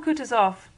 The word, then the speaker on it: Kutuzov: said Anna Pavlovna general Kutuzov said Bolkonsky speaking French and stressing the last syllable of the generals name like a Frenchman has been pleased to